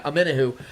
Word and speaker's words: Omenihu: The Chiefs signed the former defensive lineman for the 49ers, Charles Omenihu, I think that's how you say his name. Yep. Yeah, Omenihu, to a 2-year, $20 million max deal with $7.2 million signing bonus, along with $8.6 million guaranteed.